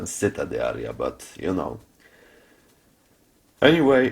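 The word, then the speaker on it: Città di Aria: I always mispronounced it. It was cheetah diaria rather than sitta dear, but you know.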